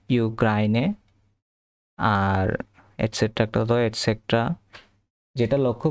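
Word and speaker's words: Ukraine: এখানে একটা জিনিস লক্ষ্য করতে হবে সেটা হচ্ছে যে ইউক্রেনকে এরা বলে ইউক্রাইনে আর এসেটটা এসে যেটা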